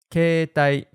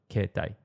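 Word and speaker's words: 携帯: Keitai, cell phone. It's written as keitai, but we say keitai. You don't pronounce the e in kei. Instead, you stress the e sound a bit, like keitai, not keitai.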